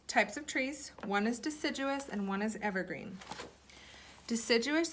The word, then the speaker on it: deciduous: that's a big word let's say it together duh sit gieux us that's four syllables deciduous the trees that keeps